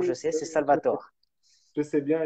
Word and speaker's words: Salvatore: oui, sais, c'est oui, Salvatore. je sais bien, il y a beaucoup de gens qui le prononcent à l'italienne, mais finalement, on parle en français, donc c'est bizarre.